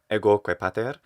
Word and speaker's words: ego: which is ego crepater i hear a long o or certainly a stressed o in ego and it sounds fine especially the fact that we have that long o final o is always long in latin it can be shortened